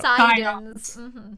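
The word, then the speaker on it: Psidon: Well, it's a joke on Poseidon because the P is silent in the Greek Psi because it would technically be PSI.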